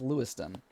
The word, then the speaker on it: Lewiston: people digging into mr i said his name wrong his name is lewiston sorry george lewiston um